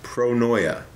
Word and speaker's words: pronoia: word you can Google it and it's uh pronounced pronoia and it's the opposite of paranoid and it's